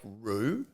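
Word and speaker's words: rượu: gal among other names Ru is the generic Vietnamese word for wine Aussies you can say it like Rue you know kangaroo but with a deep voice anyway it isn't commonly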